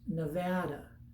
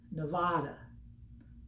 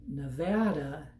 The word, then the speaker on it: Nevada: to visit so the first one is it's pronounced nevada a lot of people say nevada it's like tomato tomato but nevada is the proper way you say it just